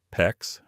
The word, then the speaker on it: PEX: Copper, PEX, PEX, rhymes with flex, or CPVC, CPVC.